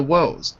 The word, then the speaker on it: woes: Yeah, the woes. Tackles woes. Tackles woes. Exactly. So W-O-E-S is pronounced like a long O sound.